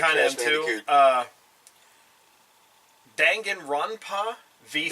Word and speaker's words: Danganronpa: Danganronpa V3. Danganronpa.